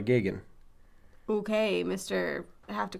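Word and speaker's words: Geoghan: beginning of the movie father Gogan Gagan Kagan I don't how do you know how it's said cuz I remember the news pieces about it it's father gigan okay mister I have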